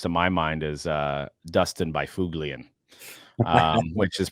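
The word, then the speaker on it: Byfuglien: my mind is Dustin Byfuglian, which is pronounced Bufflin, which nobody in their right mind that's never heard of that guy that's seen that name would say Bufflin.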